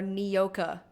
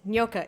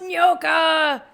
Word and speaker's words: Nyoka: in Graham's writing, or the characters calling her Nyoka, which is not how Nyoka is pronounced. It's Nyoka. It means snake in Swahili. For the millionth time, it means snake in Swahili. It's pronounced Nyoka.